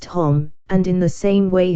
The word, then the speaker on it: homme: bark, he learned from D'Arnot that it was pronounced homme, and in the same way he was taught to pronounce ape, singe and tree, arbre.